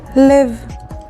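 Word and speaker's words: לב: Lamed sounds like la. And the next word is lev. Lev is a heart, and it's spelled with lamed and bet, lev.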